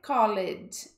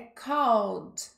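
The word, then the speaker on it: called: a pronúncia não é colete é cold é como se a gente não falasse esse e tá e o próximo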